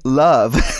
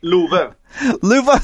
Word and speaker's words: Love: my name then um love it's actually a swedish name luffa see of course see